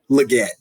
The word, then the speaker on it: Legette: I was mess up his lietti Legette that's what I've heard it pronounced we're gonna goette um